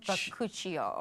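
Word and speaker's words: bakuchiol: Then I'm going to try and pronounce these neosinomide hyaluronic acid and newer ones like baku bakuchio.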